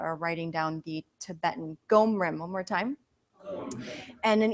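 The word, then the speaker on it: gom rim: it's so strange okay can you say ghom room it's g om r IM for those of you that are writing down the tibetan gum room one more time and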